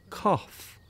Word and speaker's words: cough: Does the word cuff and cough have the same pronunciation? No, they don't. So cuff is cuff, cuff. Cough is cough, cough, cuff, cuff. So that is your cuff, and this is cough, cough.